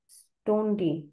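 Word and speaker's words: Stunde: স্টোনডি time time time time বোঝায়। মানে কি? প্রায় সাইট মানে হচ্ছে ফ্রি সময়। মানে হচ্ছে আওয়া। সমুন্ডি মানে আওয়ার স্টুডেইটা হচ্ছে এর উচ্চারণ স্টুন্ডে মানে আওয়ার স্টুডে মানে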